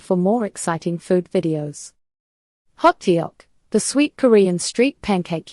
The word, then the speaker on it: Hotteok: one dessert worth trying what is hot hot pronounced hot is a popular Korean street food known for